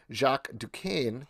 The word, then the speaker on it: Jacques Duquesne: in this thing with her new potential stepdad jacques duquesne did i say right this time that's that's